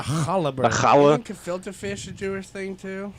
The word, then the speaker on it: gefilte: Okay, so it's spelled with a G actually. It's Gefilte. Gefilte.